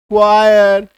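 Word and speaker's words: choir: तो उच्चारण क्या निकल गया? सीएच का क्योंकि क हो जाता है या च हो जाता है तो केमिस्ट्री क्वायर क्रोनोलॉजी टेक्नोलॉजी ऑर्केस्ट्रा क है ना मैकेनिक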